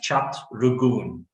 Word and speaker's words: Chatrooghoon: If you pronounce it in terms of, the English language, It's pronounced as Chatrooghooon. Chatrooghooon. Yes.